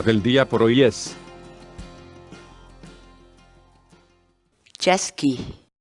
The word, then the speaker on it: chaskiy: de videos en la que te enseñamos a pronunciar algunas palabras en quechua. Así que nuestra palabra del día por hoy es chasqui, chasqui, chasqui, la palabra quechua.